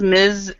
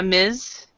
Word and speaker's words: Ms: miss um so you've got Ms Miz and miss so oh my and when you if you and basically if you don't know the marital status of the person uh try to do try to say this one uh Miz because um like from